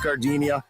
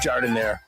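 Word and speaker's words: giardiniera: Hey guys, when you're at the counter, don't call it Gardinia. It's pronounced jard in there.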